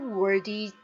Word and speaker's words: worthy: I'm no longer worthy to be called your son. 저는 더 이상 worthy 발음 주의하시고요. 자, th 발음 혀가 나옵니다. 이 발음이죠.